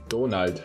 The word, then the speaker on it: Donald: Well, no, you just have to and- pronounce it in a German way. Donald.